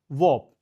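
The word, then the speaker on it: warp: Next word कहता है वॉप। देखो ये WRAP रैप जैसा नहीं है। ठीक है, ये क्या है बेटा, वॉप है। आर साइलेंट है, वॉप बोलेंगे, वार्प भी नहीं है, वॉप।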